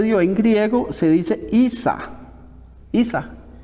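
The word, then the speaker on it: عيسى: que se le dio en griego, se dice Isa. Isa. O Isa o Isa.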